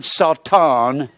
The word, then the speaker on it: Satan: it says satan here the word satan is the word sauton spelled the same way in the hebrew it means adversary now